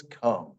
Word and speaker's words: come: No, it says come.